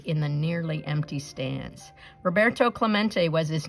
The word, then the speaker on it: Roberto Clemente: heard the announcer stumble through his Spanish name Rob a ro Bert tow Club ain't echoed in the nearly empty stands Roberto Clemente was his name and it is pronounced Roberto Clemente as if to introduce himself Roberto smacked into